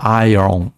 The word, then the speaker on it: iron: são madeira, iron, ferro, na verdade iron, é uma pronúncia diferente aqui, né? Você tem que inverter o O com R.